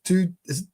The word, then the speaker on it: Thy: We've got Danish from the two distillery, although it's spelled T-Y-E. It's spelled Thy, but it's pronounced two.